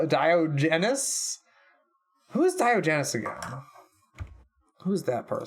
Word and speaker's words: Diogenes: How to pronounce. It is Diogenes.